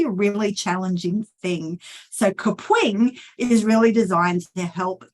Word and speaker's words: Kapwing: next one is kapwing now I love the way you've got to pronounce this it has a certain pronunciation it's kapwing so you've got to say it with a bit of attitude and kapwing is designed as a